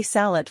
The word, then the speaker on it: salut: literal translation is good day the word is pronounced Bon zor three say salad for an informal greeting the tea is silent